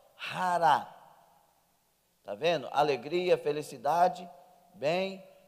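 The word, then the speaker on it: χαρά: Hara. Está vendo? Alegria, felicidade, bem, chega o mauzinho para a direita, isso, aleluia. Lá está escrito xará, mas no grego pronuncia rara.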